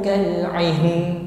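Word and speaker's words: كالعهن: Jadi huruf sukun yang pertama kita sempurnakan yaitu huruf ha. Jadi sekali lagi membacanya tidak langsung. Jibalu kal'ihn. Nah, ini nunnya terbaca, tapi haknya kurang sempurna. Jadi kita sempurnakan, kita selesaikan dulu sifat pada huruf ha, hamas dan rakhawah. Suaranya ngalir, okay?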